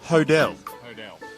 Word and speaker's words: Hodel: So Max Hoddle is now the artist formerly known as Max Hoddle. It's Max Hodel. That's a bit of a... Max Hodel. Don't know much about Max Hodel, except he's... now we know the pronunciation of his surname.